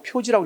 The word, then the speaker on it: 표지: 기록할 지자로 쓰기도 해 그래서 이때는 표시라고 읽지 않고 표지라고 읽으면 뭘로 읽는다 다지 표지 무슨 알겠죠 우리가 지식 할 때는 식으로 읽지만 표지 할 때는 표식이 아니라 표지라고 해야 된다 이해되나요 그거 좀 기억해